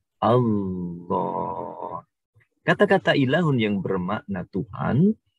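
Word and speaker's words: الله: lafadz tersebut bunyinya adalah Allah. Atau dalam tulisannya aslinya adalah al-ilahu. Al-ilahu. Sehingga ada al, sehingga lafadz secara khusus di sini, maka ditafkhimkan, menjadi ditebalkan pengucapannya menjadi Allah.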